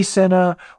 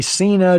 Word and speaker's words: Sena: functions you can say hey Senna or hey Cena depending on how you want to pronounce it I think it works either way and you can control